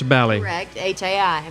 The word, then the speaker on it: Bali Hai: ranch from Bali Hai Bali Hai be a li as in Bali but pronounce Bali hii Bali Hai har paradise